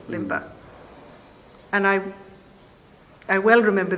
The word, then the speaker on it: Limba: That's very pronouncable. Limba.